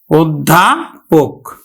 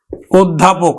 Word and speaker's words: অধ্যাপক: মহাপ্রাণ তো শিক্ষার্থী বন্ধুরা এই ধ টা কিন্তু দুইবার উচ্চারণ হবে না এই জ ফালা যুক্ত ব্যঞ্জনটা ধ দুইবার উচ্চারিত হবে না তার আগের যে অল্পপ্রাণ আছে সেটি কিন্তু আমরা উচ্চারণ করব তাহলে আমরা উচ্চারণ করব কিন্তু উৎ ধা এবার ধ চলে আসলো অধ্যাপক অধ্যাপক আমরা উচ্চারণ করে থাকি তো দেখো আদ্য এর